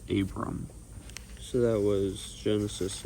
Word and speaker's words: Abram: that he had yeah I was saying his name wrong it's not Abraham it's Abram so that was Genesis 9 10 11.